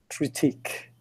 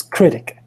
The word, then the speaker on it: critic: so the word is fashion critique Thailand check the pronunciation oh that's critic critic sorry critic fashion critic so okay so Vanessa